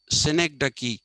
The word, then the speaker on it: synecdoche: is ever heard of this word anyone it's pronounced synecdoche has anyone heard of this no akshay you